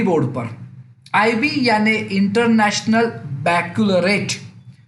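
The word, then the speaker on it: Baccalaureate: आईबी यानी international बैक्लरेट, हाँ, pronunciation थोड़ा ट्विस्ट है, इंटरनेशनल बैक्लरेट।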